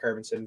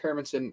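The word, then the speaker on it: Hermansson: talking about a little bit we got jack harbinson versus marvin i'm gonna make sure i'm pronouncing this guy's name right it's jack hermansen versus marvin vittori marvin vittori 15 and four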